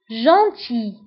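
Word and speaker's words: gentil: جونتي. جونتي. فبالنسبة لجونتي نكتبها بأل في آخر الكلمة ولكن لا ننطقها.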